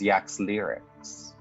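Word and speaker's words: Yaxlirix: a six-hour walk this city is known as yak's lyrics yeah clerics and it looks like this how do you spell that y a x l-i-r-i-x that's too pretty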